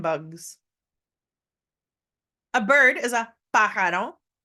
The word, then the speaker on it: pájaro: A bird is a pájaro. Don't forget the accent on the first A.